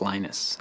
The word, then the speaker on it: Linus: speak finnish it's linos when i speak english it's linus and i really don't